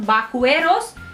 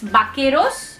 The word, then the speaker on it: vaqueros: say baqueros okay again this is giving the k sound because u is silent after q okay i will talk in detail about this rule but for now it's not bakueros it's bakeros i'll tell the rule